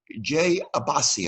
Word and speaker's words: Jay Abbasi: I want to talk to Jay Abbasi. I pronounced your name correctly, right, Jay?